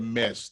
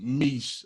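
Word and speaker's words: Me$h: sign h yeah so it's pronounced meech i said mesh last week i said it i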